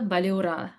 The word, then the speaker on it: Balura: You have to like roll the R, like Balura.